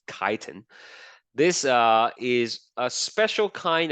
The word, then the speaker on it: chitin: Now there's one additional one called chitin. That's how you pronounce it, okay? Not chitin, it's chitin.